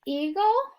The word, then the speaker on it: eagle: Our E is going to be silent. The schwa sound is going to come before the L, and we're going to box that in. Our first syllable says E. Our next syllable says gull. Put it together. The word is eagle.